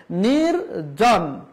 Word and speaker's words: নির্জন: নির্জন নির্জন এই যে এরকম বলা যাবে না নির্বান বলা যাবে না দৃত্ত উচ্চারণ করা যাবে না নিরিঝর বলা যাবে না না তাহলে কি বলতে হবে নির্জন নির্বান নির্ঝর তাহলে এই র এর